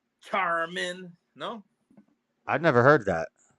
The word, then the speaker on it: Charmin: I think I think why do you say it like that is it Charmin or charman charman is it charman I'm pretty sure I never heard anybody say Charmin because the commercials they're like Cha Cha Cha Charmin no I've never